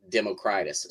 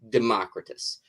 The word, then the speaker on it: Democritus: probably pronounced Democritus because that's how we pronounce like old Latin or Greek or whatever names in English but uh you wrote